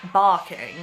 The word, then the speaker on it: Barking: Barking, that's where I was, I remember, because it's called barking, but it's pronounced barking, because, you know, fuck the R's, right?